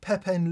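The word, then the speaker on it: Pepijn: together folks okay Admar it's spelled p-e-p-i-j-n like Pepin the Dutch Dutch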